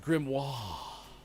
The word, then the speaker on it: grimoire: got flipped turned upside down ladyk says it's pronounced grimoire uh eternal darkness is an awesome game that